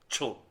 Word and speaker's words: TCHN: Yes, perhaps it is spelled in your English equivalent. It would be approximately TCHN. TCHN? Yes, Chun.